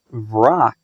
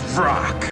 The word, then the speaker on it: Vrak: Also, he says his own name here and pronounces it Vrak. My name is Vrak.